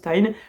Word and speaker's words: TIJN: lunettes antilumière bleu de la marque Tin, donc qui s'écrit T I JN, mais qui se prononce Tin.